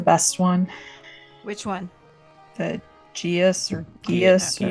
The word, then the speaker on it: Geas: The proper pronunciation is Geesh.